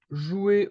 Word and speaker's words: joue: we can see that the E is mute, we can't hear it, and the ES also is mute. So it's basically the same pronunciation for the three persons. Je joue, tu joues, il ou elle joue.